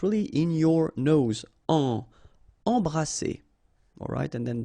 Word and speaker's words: embrasser: Embrasser. Alright, and then double S here, it's S. Embrasser. Oser.